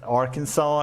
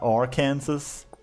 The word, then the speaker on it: Arkansas: It's the same reason you the like they say Kansas then it's Arkansas it's not our Kansas but I can't really